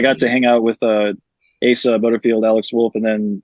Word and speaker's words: Asa: And then obviously they go off, and obviously Asa was already doing awesome things with Asa.